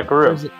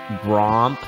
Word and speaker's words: Groomp: Yeah, Groomp. Groomp. Okay, I didn't know how if it was like Gromp. It goes by Gromp as a joke, but it's Groomp.